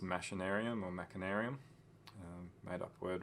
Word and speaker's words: Machinarium: I'm not sure how you pronounce this game. Machinarium sounds good. Machinarium. I think it's actually Machinarium.